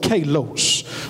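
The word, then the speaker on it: καλός: good beloved is a little Greek word called Kalos you spell it ke alos and the Greek is spelled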